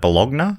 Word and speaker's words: Bologna: Or how do you say that? Bologna? Yeah, Bologna. Yeah. Bologna, yep. A parody it's got to rhyme with Sharona, really, for what it to is work.